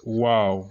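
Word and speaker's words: واو: So when you are pronouncing it, you pronounce like this, wow. Like that. It's just like a flabbergastement. You're just like surprised, wow, something like that.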